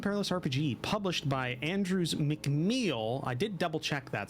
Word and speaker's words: McMeel: We're playing Zweihander, a Grim and Perilous RPG published by Andrews McMeel. I did double check that, so that is how you pronounce it. McMeel Publishing, and designed by Daniel D.